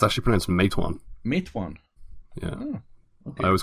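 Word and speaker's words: Matewan: this in its it's actually prints make one mate one yeah I was called in Matawan as well until they watch the movie and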